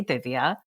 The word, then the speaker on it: Divya: If my mother would be like, teach the American people how to say the soft D. And so if you are a soft D person, you can say Divya. You can say it either way you want.